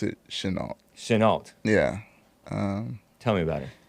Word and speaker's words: Chenault: pronounce it Chenault. Chenault.